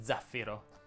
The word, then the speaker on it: zaffiro: è sorda oppure sonora bene si dice zaffiro con l'accento sulla i e la z e sonora per le s e